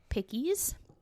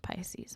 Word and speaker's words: Pisces: His date of birth was March 10th of 1948, and he is a Pickies. I know it's pronounced Pisces.